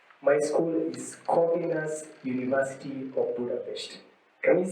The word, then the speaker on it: Corvinus: Budapesti Corvinus Egyetem. Yeah, you can realize that in Hungarian, we do not say Corvinus. They pronounce every syllable. So we say Corvinus.